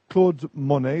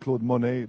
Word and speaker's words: Claude Monney: so first of all Claude Monet the wonderfully named Claude Monet not spelled the same but pronounced the same uh he's going to